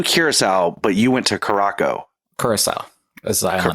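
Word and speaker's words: Curaçao: the it's blue cirel but you went to Caraco carasel is the is name Caraco that's how they pronounced it who does who's they Who you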